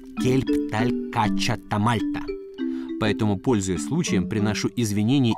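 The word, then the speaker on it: Kelb tal-Kaċċa ta' Malta: Только сейчас, встретившись с Филиппом, я узнал, как правильно на мальтийском языке звучит основное название этой породы. Кельпталькачатамальта.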